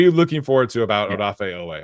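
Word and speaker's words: Odafe Oweh: Uh, what are you looking forward to about Odaf Ooway? I need to keep on saying Odaf because it's not Od. I need to say Odaf. That's how it's pronounced. So, Odaf Ooway.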